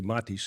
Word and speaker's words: Mattis: you introduce yourself yes my name's Mattis actually matis if you had wanted to pronounce it right uh I have a